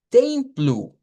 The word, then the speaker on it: templo: acuerdo al alfabeto fonético, donde decimos templo, en donde veíamos la nasalización de la E con la M y que la O al final de las palabras en portugués se pronuncia como una U.